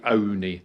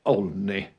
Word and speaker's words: Olney: For a local will say Oney. Oney rhymes with pony. Yeah. But for those of you out of the area, it looks like Olney.